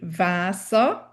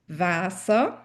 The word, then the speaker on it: Wasser: is this fact that the W's need to be pronounced like the English V. It's a hard V sound. Welcome. Other words that start with a W include Wasser, water, Wasser.